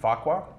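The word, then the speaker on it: Farquhar: founders of atlassian mike cannon brooks and scott faqua and also sorry i did pronounce that right right yes you did and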